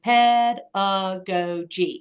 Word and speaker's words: pedagogy: is called play pedagogy so that word is pedagogy so you'll see it often throughout this text